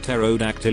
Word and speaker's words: pterodactyl: urine you can collect pterodactyl urine but the p is silent speeding tickets give it